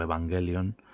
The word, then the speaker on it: Evangelion: que quien lo popularizó pudo ser Evangelion, o Evangelion, según la pronunciación japonesa de la palabra.